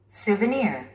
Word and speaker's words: souvenir: Souvenir. Souvenir. 니에 스트레스가 있습니다. Souvenir.